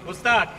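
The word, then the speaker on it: posthac: He chooses not to pronounce the H. Usually in classical Latin, the H is pronounced, particularly if it's at the beginning of words, but in this case, it's absolutely fine not to pronounce it. Postac, I think it's easier to say.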